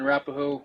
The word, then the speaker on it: Arapaho: flag the Cheyenne and Arapaho tribe did I pronounce that right yes sir cheyen and rapo or for short people just say CNA it